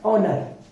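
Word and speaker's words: honour: हिंदी में उसी तरह एओ एन ओ य आर यहां पे एच के बाद में ओ वोल आया है इसी वजह से एच साइलेंट हो गया और एओ एओ u आर का जो प्रोनंसिएशन हम करते हैं वह होता है ओनर ओनर मींस होता है सम्मान एच य एम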